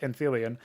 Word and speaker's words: Anthelion: when I found out it's actually pronounced Anthelion. However, Anthelion also sounds pretty cool, so I wasn't really that disappointed.